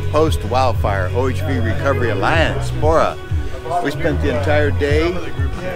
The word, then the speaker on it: PWORA: I remember it's PWORA, but the W is silent. So it's PWORA, because nobody can say PWORA.